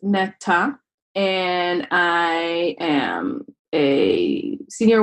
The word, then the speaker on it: Netta: My name is Net. It's actually in Hebrew, it's pronounced Netta, and I am a senior web developer at a startup called Reali.